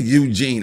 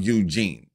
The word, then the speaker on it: Youjeen: so fire that that Eugene I got to check out Eugene I think I'm pronouncing it right it's y-o-u that's you then j-e-e and that's Gene right I got to check